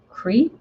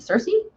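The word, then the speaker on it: Circe: against the wiles of crete hmm i'm pronouncing that wrong eyeball does it's c-i-r-c cersei cersei i think that's right um so uh my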